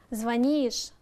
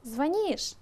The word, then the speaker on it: звонишь: слог ударение помните например звонишь а то некоторые очень часто неправильно ставят ударение и таки говоря на самом-то деле звонишь звонит звоним звоните звонят на последний слог также мы с вами